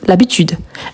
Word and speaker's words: habitude: Différemment de habitude, qui c'est un H muet. Donc, on dit l'habitude.